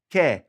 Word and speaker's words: que: That's because a Q cannot function by itself. It must have that U with it, and it sounds like a K. So that's why this comes out like que instead of qua, like English, okay?